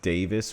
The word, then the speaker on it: Davies: So, Davies is pronounced Davis, which I can live with, but what I couldn't live with is I'm calling him George.